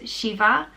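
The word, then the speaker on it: Síomha: Next name is Shiva, and this name comes from Síohmha, which means Si means peace, and Ma means good, so it means good peace.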